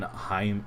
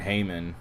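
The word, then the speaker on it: Heyman: Um per John Heim Hayman. I always say his name wrong. John Hayman, Heliot Ramos is going to the Yankees.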